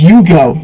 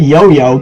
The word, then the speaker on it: Yugioh: My name is Yugioh, not Yo-Yo. Get it right.